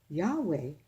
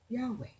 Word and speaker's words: Yahweh: My name. Pronounced Yahweh. Do you hear the A at the end? Yahweh is how my name is pronounced.